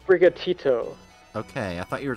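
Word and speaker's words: Sprigatito: thought behind those eyes what bright what if pronounced brigatito okay I thought you were talking about the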